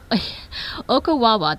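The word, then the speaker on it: Ocklawaha: Okawawa, the L is silent.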